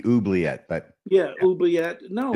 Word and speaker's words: oubliette: you call it an oblet uh and I think I mispronounced it it might be oet but yeah oet no